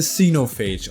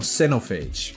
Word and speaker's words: Xenophage: talk about is the xenophage or cenophage i usually call it xenophage but i've heard americans pronounce it cenophage so yeah i don't know i'm scandinavian so i say xenophage okay xenophage is a